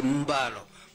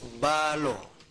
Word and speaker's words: Balo: It is the Fula pronunciation who used to say Mbalo. But it is Balo.